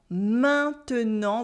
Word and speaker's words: maintenant: same word, like in maintenant. maintenant, which means now with the silent T at the end. There is a sound at the beginning, main, main, main. And then we have a en right after.